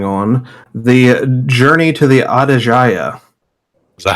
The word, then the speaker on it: Aedejia: this little journey we're going on, the journey to the Aedejia, Is that how you say it? I have not known. yes, the Aedejia.